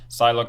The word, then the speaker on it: Psylocke: Psylocke says, the P is silent.